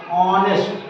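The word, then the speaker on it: honest: यहाँ पर H silent होता है, इसलिए उच्चारण किससे होता है, आ से, ऑनेस्ट।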